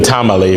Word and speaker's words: Tamale: And we live in Tamale, which is spelled like the food, but has no relation with tamales.